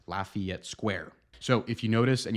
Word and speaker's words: Lafayette: correct French pronunciation however in St Louis you'll notice that people here say it more like Lafayette Lafayette Square so if you notice